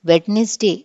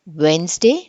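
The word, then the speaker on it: Wednesday: Third one, the letter D is silent when it is used before the letter N or before the letter G.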